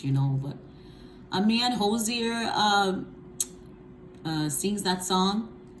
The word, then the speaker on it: Hozier: z i e r i don't want to butcher the name just in case you know but a man josier uh uh sings that song and that song